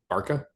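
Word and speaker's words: Barça: Barca? I mean, the city is pronounced Barcelona. I don't know. Maybe I need to watch more of La Correct. Liga. It's Barcelona, but if you shorten it, it's Barca.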